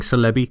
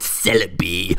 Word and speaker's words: Celebi: Let me clue you in on something, CBY. Celaby. It's pronounced Celaby.